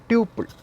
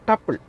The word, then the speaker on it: tuple: Tuple, okay, or tuple. Okay, in both ways we can pronounce it, tuple or tuple.